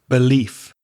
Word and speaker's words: belief: Now, you may notice the ending of those words may sound similar, but if you listen very carefully, they're not because the verbs to prove, to believe, to relieve, that final vv sound has vibration. It's voiced. Whereas the nouns proof, belief, relief, I'm exaggerating the f because it's only coming through my teeth.